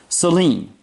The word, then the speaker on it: Saleen: shows and I know he likes his name to be pronounced the way it's supposed to be pronounced Selene but I say Steve Saleen cuz I'm from over here